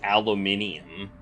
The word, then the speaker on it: aluminium: it's made of lightweight aluminium that's how they pronounce aluminum is aluminium it's true it's true aluminium